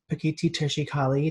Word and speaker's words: Pekiti Tirsia Kali: they train you in self-defense specifically and put petite teacher she Kali did I say it right now keep it